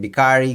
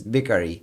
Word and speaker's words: Biccari: talking about bakery now i used to say it bikari because you know that's how i am i pronounce it wrong but speaking to some residents there and my italian friends it's bikari maybe the accent's a little bit bad but it's a village